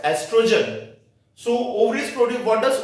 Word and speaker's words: estrogen: We will not pronounce this word as oestrogen. We will pronounce this word as estrogen.